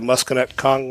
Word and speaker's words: Musconetcong: You did a blog post on this about the Musconetcong River. Yeah. Did I pronounce that correct?